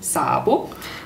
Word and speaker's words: Szabo: Szabo, spricht da richtig aus? Ich spiele zwei S. Im Ungarischen gibt es kein Doppel-S, sondern man schreibt SZ.